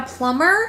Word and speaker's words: plumber: do you mean a plumber that's what I'm saying plumber it has a b in it the B is silent you should be silent